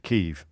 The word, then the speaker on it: Kyiv: I mean, I thought everybody knew that we pronounced it Kyiv by now.